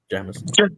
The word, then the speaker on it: Jamison: Jamison.